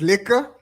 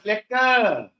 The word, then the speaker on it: lekker: And was it liquor? Yo, was nah. How do you say? It was nah. But we don't talk like that, Mr. Khota. No. It was lekker. It was lekker, like nice.